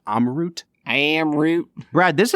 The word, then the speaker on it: Amrut: today we are trying am root Fusion I keep saying am root I am sure that it's probably pronounced amot am am root Brad